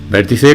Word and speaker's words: vértice: Ahí está, vértice con acento en la E, ya sabes.